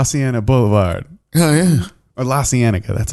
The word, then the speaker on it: La Cienega: Oh yeah, or La Cienega. That's how you say it. La Cienega.